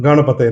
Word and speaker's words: गण: ओम गन नहीं, गन चलाओगे तो फिर वो गन चलानी सीखेगा बच्चा, समझ गए?